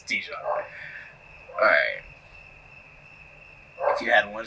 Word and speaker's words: Dijon: The the J is silent. It's Don. I don't think so. No, it's Dijon.